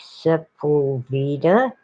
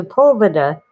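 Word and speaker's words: Sepulveda: a and of course people who've never heard it pronounced try to sound it out and it does look like simple veda and it's a poverta it's a family name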